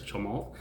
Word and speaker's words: Chamath: It sounds like to me there's like a silent L there, or there is an L there, it's not there, it's Chamath.